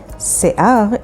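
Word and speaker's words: שיער: Se'ar is spelled with sin, yod, ayin, resh.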